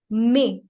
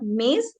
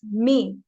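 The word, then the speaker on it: mes: This is may, not maze, it's may.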